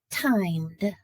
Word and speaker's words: timed: Timed. Timed. Timed has a d sound at the end.